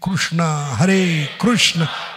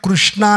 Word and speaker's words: कृष्ण: हरे हरे राम और उच्चारण में कृष्णा नहीं, कृष्णा द्रौपदी का नाम है, आपका वस्त्रण होगा। कृष्ण बोलिए, क्योंकि इंग्लिश में कृष्णा बोलते हैं हम, इंग्लिश में क्रू नहीं है।